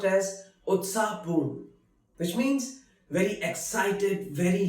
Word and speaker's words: उत्साहपूर्ण: Utsahpurn, which is pronounced as Utsahpurn, which means very excited, very lively.